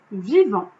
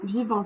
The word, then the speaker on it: vivant: C'était vivant, parce que vivant, ça se termine par un T, mais on ne le prononce pas.